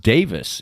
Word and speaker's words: Davies: pronouncing it that way like like Davies Davies like you know Ray Davies and Davies The Kinks whatever that's pronounced Davis in England and and it was